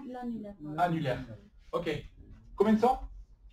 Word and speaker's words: annulaire: annulaire, annulaire. annulaire, R, R, voilà, c'est ça, R. donc N, est, R, re, et voilà, et ça, E muet, on n'entend pas, c'est un E muet, très bien.